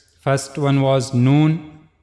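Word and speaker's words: ن: First one was known. The origin of letter known is tip of the tongue and it will go connect to gum of the two top front teeth here.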